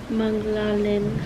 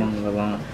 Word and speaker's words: Manglalan: Manglalin. Wrong. Manglalin. Wrong. Where was our first choice? That's not my middle name. It is. It's not, you said it wrong. Manglalin. Nope. How do you say it then? Manglalan. Manglalan.